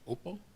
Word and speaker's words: Oppo: So how would you pronounce it in English? Oppo?